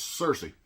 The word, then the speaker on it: Cersei: in house review uhuh not happening so it's Cersei but Cersei is going to kill princess Ilana